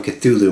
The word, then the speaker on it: Cthulhu: And we're going to throw it all into the Shuriken RDA, sent on over from Cthulhu Mods. I'm pronouncing it right this time, so...